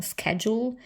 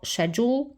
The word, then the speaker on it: schedule: Czy powiedzieć to na modłę amerykańską jako schedule, czy może jednak brytyjską jako schedule.